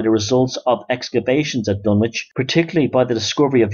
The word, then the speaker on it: Dunwich: submerged by the Sea dun witch pronounced dunich still exists in each